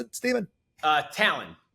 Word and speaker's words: Tallon: bit of shop Stephen tal thanks so much for being on it how do you pronounce it Stephen uh Talon t a l o n like the eagle claw people are always like